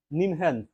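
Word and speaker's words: NIMHANS: ভারতের একটা organisation hospital নিমহ্যান্স একে উচ্চারণ করলে নিমহ্যান্স বলা হয় ন্যাশনাল ইনস্টিটিউট অফ মেন্টাল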